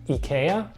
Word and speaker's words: IKEA: kind of confusing because technically in Swedish it's pronounced Ikea just like Zlatan would but in the United